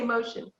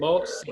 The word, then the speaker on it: Mohsin: I always say Mohsin. It's Mohsin. Dr. Mohsin? Yeah, Mohsin.